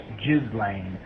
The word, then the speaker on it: Ghislaine: Just so you know, the proper way to pronounce Miss Maxwell's first name is Ghislaine, as if it were spelled Jizzlane.